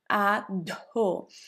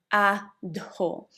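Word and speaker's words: Adho: The first one is ado. So the a the first letter of the word a it's pronounced like in the English word above. So, a above ado.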